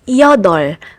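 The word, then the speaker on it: 여덟: In this combination of final consonants, you only need to pronounce p. Like in the word yodol, which is 8 in one of the Korean number systems.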